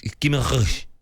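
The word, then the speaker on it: Guimarães: How do you pronounce it? Guimaraes. Yeah, a lot of people... It's Guimaraes.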